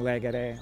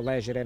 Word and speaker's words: legere: Ler é escolher, é uma palavra que vem do latim legere, ou legere na pronúncia tradicional, que significa escolher.